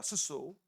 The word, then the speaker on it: 수소: 이거 뭐라고 읽어요? 수소라고 읽죠. 수소입니다. 수소.